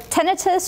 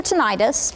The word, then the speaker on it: tinnitus: So tinnitus or tinnitus, both of those are correct pronunciations, is what you're hearing in the ears.